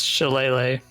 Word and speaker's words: Shillelagh: do a first level spell and then use Shalag? Shalag? I don't know how to pronounce it. Is it a Oh. cantrip? Yeah. Yes, you can do. Let me see. It's Shillelagh. Chilele.